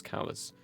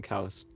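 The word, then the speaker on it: Kallis: correct i'll call him callus he just decided to spell it k-a-l-l-i-s because that's how it sounds yeah and it's probably like just like one of those words that's like callous you know what i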